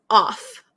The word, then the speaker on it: off: of and off so o f is pronounced of of so uh like um of means belonging to something so uh I can't think of an example with of now um but o is off off like turn off the lights turn off the music okay so the pronunciation is different the meaning is different okay uh teacher can